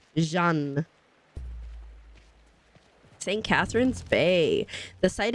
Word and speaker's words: Jeanne: I keep saying her name wrong. Jeanne.